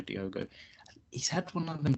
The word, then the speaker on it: Diogo: Costa or Diego Costa should say his name not Diego Diogo he's had one of